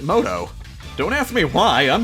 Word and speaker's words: Muto: Yugi moto sort of the official spelling is Muto but they pronounce it moto don't ask me why